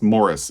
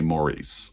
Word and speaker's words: Maurice: asked me recently so it's pronounced Morris in the UK so you should pronounce it that way well in the US we say Maurice so bear with me